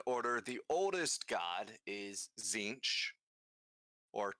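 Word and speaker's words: Tzeentch: kind of in order, the oldest god is Zinch, or Chinch, depending on how you want to pronounce it. Some people That sounds almost racist. people go one way or the other on it. It is Zinch.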